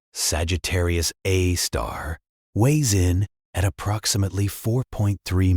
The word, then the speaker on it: Sagittarius A*: Our galaxy's central black hole, designated Sagittarius A, pronounced Sagittarius A star, weighs in at approximately 4.3 million solar masses.